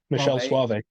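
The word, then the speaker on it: Michele Soavi: names is by I think is is I pronounced Michael or Mikel slav Suave Michelle Suave Michelle Suave okay thank you for actually saying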